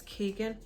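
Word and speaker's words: Keoghan: is fantastic um Bari I need to work out how to pronounce his surname Keegan I'm gonna say it's Keegan um and I'm Irish and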